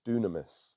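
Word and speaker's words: δύναμις: original Greek translation is pronounced dunamis which is where we get our English word dynamite and when you place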